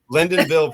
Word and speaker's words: Lyndonville: I'll probably butcher this is it Lyndonville is that how you say it exactly lindenville Vermont well done people always butcher my